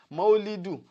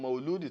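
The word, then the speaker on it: مولد: pé wọ́n ṣe rárá maulidu òun gangan ni correct pronunciation tó jẹ́ pípé rẹ̀ pé à ń ṣe ọjọ́ ayẹyẹ tí wọ́n bí ànábì o sallallahu alaihi wasallam ṣùgbọ́n mauludi tí wọ́n ń sọ yẹ gan kò tún correct so nínú èdè lugatan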